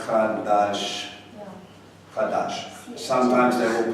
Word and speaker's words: Chadash: If you're going to break it down into English, it's kind of like Chadash.